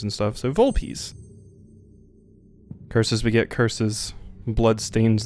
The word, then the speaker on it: Volpes: Okay, it's pronounced Volpes. I didn't know if it was like Volps or Volpez is what I was going to go, but it's Volpes. Like V-O-W-L-P-E-E-Z.